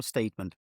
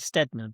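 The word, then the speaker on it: Tony Steedman: Is it Steadman or Steedman? So I would say you would pronounce it Stedman, but it could be Steedman.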